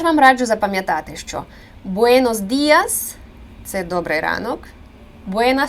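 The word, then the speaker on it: Buenos: сонце і до опівдня тут дуже важливо вимовляти Буенос через о винос не буенас це дуже часто помилка у носіїв української мови Вони напевно тут дві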